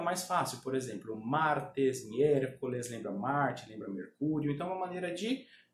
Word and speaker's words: miércoles: Vou explicar a pronúncia dessa palavra, que é miércoles. Pessoal, olha só. O E, em espanhol, ele nunca é aberto, tá? Você vai falar miércoles, você vai falar miércoles, fechando o E, ok?